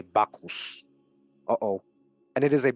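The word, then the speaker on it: Bacchus: that calls for notice must be pronounced a bakus uh-oh and it is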